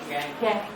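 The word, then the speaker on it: gangue: Second बताओ, इसका pronunciation कैसे करोगे? गैन।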